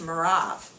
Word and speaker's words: Merav: So then Saul says to David, "Here is my older daughter," and in the Hebrew it's pronounced Merav.